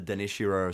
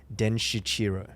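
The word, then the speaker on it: Denshichiro: So I'm pretty sure it's Den Shichiro.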